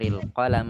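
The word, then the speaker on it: القلم: terakhir Wulan melepaskan sebagian Barusan saya dengar ada yang memanjangkan lam pada kata kolam diperhatikan dalam disini pendek jadi kita bacanya tester el-qolam Amin al-maktab seru kalau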